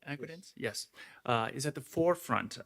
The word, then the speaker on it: Agridence: You say that your company, Agridence, did I pronounce it right? Agridence?